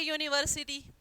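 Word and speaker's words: university: vowels में आता है बट प्रोनाउंसड एज यू लेकिन उसे अ की बजाय जब यू जो है प्रोनाउंस किया जाए जैसे ए यूनिवर्सिटी यूनिवर्सिटी अब ध्यान से सुनिए यह वोल नहीं है क्योंकि वोल्स क्या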